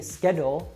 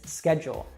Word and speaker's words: schedule: entrepreneur entrepreneur schedule now this one in american english we change that d to a g sound so instead of it being schedule it's schedule and if you're learning